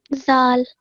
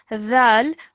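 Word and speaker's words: ذ: you to do is just pronounce the dhal with your tongue touching the back of your top teeth rather than the simple zal. Okay, so we have to pronounce this a bit differently as dhal.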